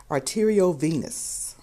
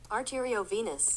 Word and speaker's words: arteriovenous: to talk about uh AVM Awareness Month art arterio Venus is how it's pronounced I don't know why I have such a problem pronouncing this word but that is how it's pronounced let me check it arterio Venus arterio Venus arterio Venus that's what it is